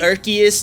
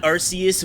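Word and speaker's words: Arceus: right um actually it's pronounced archus not arus what a g you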